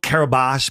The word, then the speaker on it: Kiribati: So, and then all it said it was registered at the nation of Kiribati. Now, it's called Karibash, but it's spelled Kiribati, K-A-R-I-B-A-T-I.